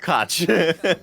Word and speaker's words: Koch: Even though it's pronounced Koch.